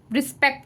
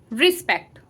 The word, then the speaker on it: respect: है यहाँ पे, ई, रिस्पेक्ट। रिस्पेक्ट, मैं रेस्पेक्ट नहीं बोल रही हूँ, रिस्पेक्ट बोल रही हूँ, तो यहाँ पर ई साउंड प्रोनाउंस हो रहा है।